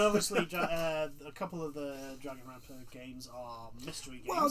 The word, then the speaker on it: Danganronpa: However, following that was from a game from the people that make Dragonrampa, if I'm pronouncing that right. Danganronpa.